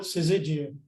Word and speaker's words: syzygium: Well, in Australia, we call it syzygium. Ah, syzygium.